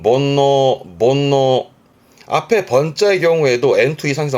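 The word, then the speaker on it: 煩悩: 이게 번뇌예요. 발음은 본노.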